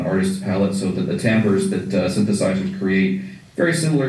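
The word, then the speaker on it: timbre: find a lot of tambers um tonal colors uh to to not leave anybody with an mu tamber it's spelled t m b r and it's the uh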